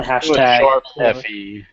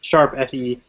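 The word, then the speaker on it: ♯FE: mirage sessions slash fe is that is that how they were pronouncing it i can't even remember the hashtag sharp yeah sharp okay yeah there we go i knew it was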